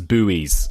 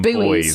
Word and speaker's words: buoy: What Americans, I believe, pronounce them as buoys, but we call them boys.